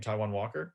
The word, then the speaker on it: Taiwan Walker: Taiwan Walker?